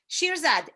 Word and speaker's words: Shirzad: personal coach so here we go can you spell that yes shirzad s h i r z a d shirizad